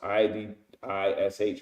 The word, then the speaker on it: Yiddish: When you look up Yiddish, which they speak today, it says Yiddish, right? Or Iddish, pronounced Idish, right?